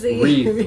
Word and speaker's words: wreath: is wreath oh this wreath which does have a silent letter at the beginning it's the W so a wreath is